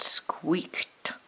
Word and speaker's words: squeaked: one more with you squeaked say that word squeaked up there ed is acting like a t but we know that